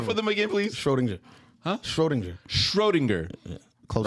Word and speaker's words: Schrödinger: Schrodinger. Huh? Schrodinger. Schrodinger. Yeah. Close right? enough. And it has an umlaut over the O. Does, so yeah. it's Schrödinger. Schrödinger.